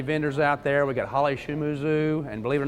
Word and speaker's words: Holly Shimizu: like 40 50 vendors out there we've got Holly shumuzu and believe it or not that's how you pronounce that name and Michael why isn't Han